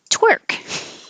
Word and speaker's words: twerk: to here so okay twerk um it sounds like work with a t because the word work